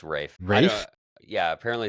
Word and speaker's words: Ralph: It's Rafe. Yeah, he said. Rafe. Yeah, apparently it's Rafe. Rafe? Yeah, apparently it's pronounced Rafe.